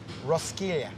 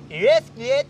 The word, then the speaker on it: Roskilde: Which I think is actually pronounced Roskilde. That's good. Roskilde. Don't make me say this on the mic tonight, and then I get booed off stage. It's pronounced Roskilde.